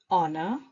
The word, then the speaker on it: honor: A, honest, honor, our. A, or, an. So far, we have seen that we use a before a consonant. Here's the catch. With these words, the letter H is silent.